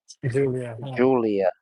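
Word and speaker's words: Giulia: Julia. Yeah, Julia with a G. Julia with a G? That's terrible. You had to pronounce that like 3 times in order to get it right.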